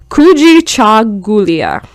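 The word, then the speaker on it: Kujichagulia: principle is okay sorry let me repronounce that i'm sorry for trigger warning for people who care about pronunciation kuji cha gulia or self-determination oh i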